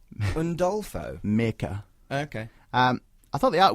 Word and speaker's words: Mirka: Artwork-wise, so it was Mirka Andolfo. That's the pronunciation I'm running with. Meerkat Andolfo? Mirka.